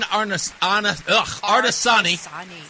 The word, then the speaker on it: Artesani: And now we have a new guest, Jen Artesani. Hello. Am I saying it right? You are. Okay. Jen Artesani.